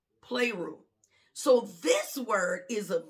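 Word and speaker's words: πληρόω: word is p l e o and it's pronounced play rule play rule so this word is a verb it's an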